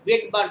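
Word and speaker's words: Svedberg: হয়ে গেছে, ঠিক আছে, আসলে কথাটা হচ্ছে ভেদবার্গ ইউনিট, ভি দিয়ে শুরু হয় না বানানটা, এস দিয়ে শুরু হয়, ঠিক আছে, ভেদবার্গ ইউনিট যেটার বানান শুরু হয় এস দিয়ে, ঠিক আছে, এটা ভেদবার্গ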